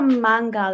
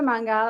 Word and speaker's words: Mangal: So I'm Dr. Mangal. It's like a man and a gal, Ari.